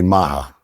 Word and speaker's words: Majah: So I just think there and Spanish people the people they call me maha because you know the j is pronounced as a h silent. No it's pronounced as a h in in Spanish.